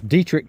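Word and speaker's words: Detrick: So that back there is Dietrich, Fort Dietrich. Um and I know that's how you pronounce it because I had a drill sergeant uh 86 went in May of 86.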